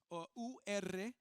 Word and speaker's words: Ur: familia de se dice en inglés se dice Ur así se escribe y de dentro de de esta familia